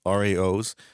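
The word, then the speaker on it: Rao's: How do you pronounce it? Rouse or Rouse? Raos, Rao.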